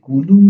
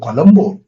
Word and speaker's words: কলম্বো: জান পানি হয়ে যে কুলুম শহরে পৌঁছালাম। আমি শুধালুম, সে আবার কোথায়? বললে, বাংলায় যারে লঙ্কা কয়। আমি বললুম, ও কলম্বো। জি, আমাদের উচ্চারণ তো আপনাদের মতো ঠিক হয় না, আমরা বলি কুলুম শহর।